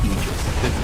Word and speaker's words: Aegis: Okay, so the correct pronunciation, technically speaking, of Aegis is Aegis. It's a literal word.